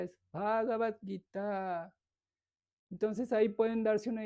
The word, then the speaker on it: Bhagavad Gita: O Bhagavad Gita, no es Bhagavad Gita, es Bhagavad Gita.